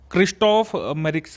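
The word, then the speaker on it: Christophe Mérieux: उसके बाद क्रिस्टोफर मेरिक्स prize 2020, ये साउथ अफ्रीका की HIV रिसर्चर कुरैशा अब्दुल करीम को मिला है। ठीक है। क्रिस्टोफ मेरिक्स प्राइज है इसका प्रोनाउंसिएशन।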